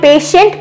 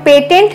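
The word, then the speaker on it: patient: आई ई एन टी, तो इसको हम पेशेंट पढ़ते हैं, पेटेंट नहीं पढ़ते, क्योंकि यहां पर जो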